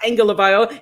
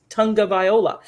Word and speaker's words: Tagovailoa: You're so good at that last name now, because they spell it out, because he even said it's not Tagovailoa, it's Tagovailoa.